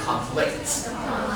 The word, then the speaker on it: conflict: If you use it as a verb, you move it to the second syllable, so we say like conflict.